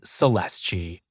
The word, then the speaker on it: Celeste: girl in Trace carasso called celesti spelled like Celeste in English she came from poverty